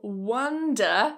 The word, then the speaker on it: wonder: So the key difference here is the vowel sound in the first syllable, So wonder. Drop the jaw. And then the second one, round your mouth, wander wander, wonder wonder.